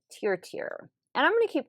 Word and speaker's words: Tier: I was saying Tur, but Tier.